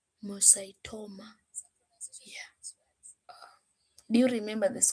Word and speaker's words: pheochromocytoma: Some pronunciation of these words, pheochromocytoma. pheochromocytoma.